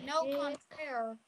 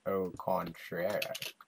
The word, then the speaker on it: au contraire: No contraire. Let me put my armor on. Stop saying that. It's like, you're not saying it right. Oh, contraire, my friend.